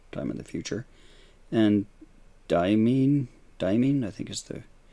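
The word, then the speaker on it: Deimos: And Diamine, I think is the pronunciation, is slowly moving away.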